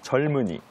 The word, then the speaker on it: 젊은이: 자연스럽게 발음을 해 보시면 젊은이 젊은이 봐 젊은이 이렇게 얘기하네요 예 그래서 이제 리을로 발음 하시고 미음이 이응으로 이번에는 니은이 이응으로 이동한다고 생각하시면 됩 그렇군요네 한번 같이